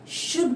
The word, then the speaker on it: should: Previous class में हमने पढ़ा था यूज ऑफ कुड में भी एल साइलेंट था और शुड में भी एल साइलेंट होगा। इसको हम क्या पढ़ेंगे गाइज? शुड पढ़ेंगे।